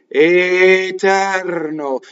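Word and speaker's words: eterno: Well, the beginning of an Italian word is long. It's long. Even if it's fast, it's long. Etɛrno. Did you see what I mean? That vowel is long.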